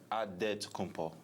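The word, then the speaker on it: Antetokounmpo: The Nigerian way, you got to say with a d. So, it's dead to ko. But in the Greek way you say with the NT like anto whatever you got just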